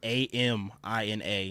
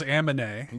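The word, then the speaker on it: Aminé: If you want to find him, it's Amina, spelled like anime, but switch the N and the M. That's what I always thought it was Amine. No, Amine. Amine is how you pronounce it.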